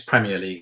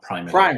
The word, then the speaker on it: Premier League: ie and it's and it's Premier League not primary league Prim primary league okay